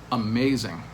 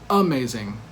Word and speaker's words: amazing: So amazing, for example, 3-syllable word, but the stress is on that second syllable. Amazing. We don't say amazing or amazing.